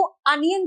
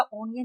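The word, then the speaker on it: onion: प्याज को अनियन कहते बेटा, ऑनियन नहीं कहते।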